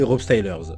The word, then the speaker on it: RopeStylers: D'Instagram à TikTok en passant par Facebook ou encore YouTube, c'est Rob Stylers. Ça s'écrit R-O-P-E-S-T-Y-L-E-R-S.